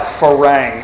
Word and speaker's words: farang: Phalang is, first off, the only time I've ever, okay, it's spelled like farang, F-A-R-A-N-G, farang.